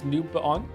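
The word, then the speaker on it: Newbon: It's not Nuban, it's Nubaon. Neil Nubaon.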